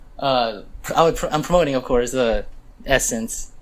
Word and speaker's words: ESSNCE: I would say, I'm promoting, of course, Essence. It's spelled ESSNCE.